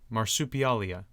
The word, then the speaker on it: Marsupialia: in a row again no no marsup Leia marsupialia marsupialia there we go okay I don't like